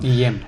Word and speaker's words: Guillem: D'un riu, però el nom Guillem o Guillem es pronuncia així, no? Guillem.